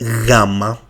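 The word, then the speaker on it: γάμμα: So this letter is called gama. It gives us like imagine that you have a G but you have to make you know the the sound should be softer like G like we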